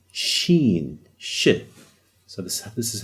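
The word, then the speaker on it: شين: And we have a letter that looks exactly like it, but it's the letter Sheen.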